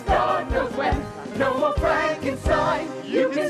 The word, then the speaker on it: Frankenstein: Frankenstein? Is that true, Dr. Frankenstein? Is that true? Is that true? Is that true? Is that true, Dr. Frankenstein? That's Frankenstein. My name. It's pronounced Frankenstein.